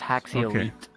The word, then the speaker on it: Haxy Elite: It's pronounced Haxy Elite. Like if you want to split the words, it's Haxial. Then Elite.